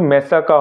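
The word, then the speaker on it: massacre: প্রোনাউন্সিয়েশনটা কিন্তু মেসাকা হবে, ওকে, মেসাকা গণহত্যা।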